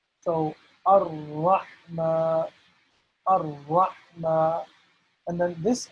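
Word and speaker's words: الرحمن: And the reason why there are two R's here is, you guessed it right, because we need to pronounce the letter R twice. So Ar-Rahma, Ar-Rahma, and then this H is a special H, okay?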